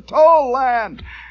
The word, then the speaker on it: Tolland: going fast yes he's we pronounce a toll land I said oh very